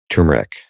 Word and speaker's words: turmeric: good molecule and the make sure I say it properly now turmeric. Yeah, you did it. As long I'm happy as long as we get the R in there, I'm satisfied.